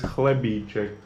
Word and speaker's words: chlebíček: This one is chlebíček. Chlebíček. What I know, Czech language and Russian language has one letter in common, which is H, connecting C and H, but the pronunciation of it together is H.